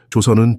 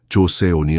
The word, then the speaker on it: 조선: 죄송합니다만 선생님 조선은 조선이라고 발음하는게 맞습니다. 조세온이 아니라요.